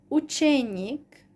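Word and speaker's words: ученик: And then nik suffix, učenik, the stress is on the nik part, učenik and učenika.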